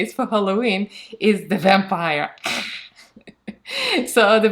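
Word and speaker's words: вампир: It's vampir. So I'm gonna put this in Cyrillic alphabet and the pronunciation below, almost the same, vampir. So there is a r at the end, vampir.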